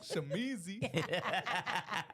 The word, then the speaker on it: Shamizee: Shamizee.